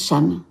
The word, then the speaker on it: Cham: Cham. Oui, on prononce Cham.